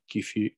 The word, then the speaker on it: kefir: It's actually like kefir. It's not kefir or kefir.